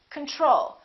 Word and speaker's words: control: Do we say control or do we say control? We say control. Second syllable is stressed. The first O is reduced. Con. Repeat after me.